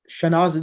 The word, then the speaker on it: Shanaz: Shanaz, they pronounce it Shanaz. There is no, just like an Amanatun, Fatimatu. Your name is fine. It will be Shanaz. So be Shanaz.